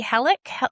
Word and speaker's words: Hallak: And today I'm welcoming to the show from Sydney, another fellow Aussie, Hallak.